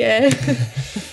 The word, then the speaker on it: Elle: So he told me Elle is French for like she, like female, mm-hmm. like a pronoun. Mm-hmm. Yeah. And it also sounds like how we in German would pronounce, and I guess in English, the letter L, yep. which is the first letter of my last name.